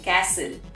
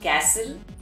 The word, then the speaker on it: castle: is a castle and i have heard people saying castle well it's not castle it's castle and we do not